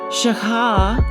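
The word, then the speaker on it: שָׁחָה: And it's pronounced shaka.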